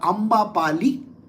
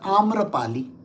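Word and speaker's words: Amrapali: Our pronunciations are Sanskrit pronunciations.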